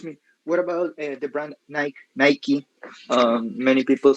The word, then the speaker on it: Nike: us will always call it nike because the form or the shape of the word suggests that this vowel here should take the name of the alphabet because this for us is is a silent e however the the owners of the company or the owners of the um of the brand they have the last word they can they can call it the one they want